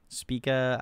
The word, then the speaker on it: Spica: trip that was I I believe the correct pronunciation was H Spa so speaka uh their song painkillers so if you're just